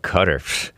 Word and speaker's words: Qatar: It's pronounced Qatar. Something like that. Qatar. People think I'm being racist. Why don't you just go work for American Renaissance and Jared Taylor instead of working for a black man? Because I pronounce it Qatar. What's Qatar? Qatar? Oh, Qatar. Or some people call it Cutter. It's a guttural sound.